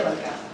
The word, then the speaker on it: Balcázar: Aunque no tiene la tilde, así lo escribimos en mi familia, sin la tilde, pero se pronuncia Balcázar.